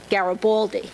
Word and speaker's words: Garibaldi: pronounces it correctly and I pronounce it like an American gabaly which doesn't say anything